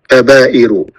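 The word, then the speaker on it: كبائر: alaihi wasallama maam tugsal kabairu quluhu miniri amal kabairu yair kita baca benar kabair wazannya sama ya shiroh soghair kabirah kabair bukan ya sigoir sogo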